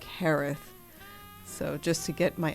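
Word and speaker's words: Jerez: It's not how it looks at all.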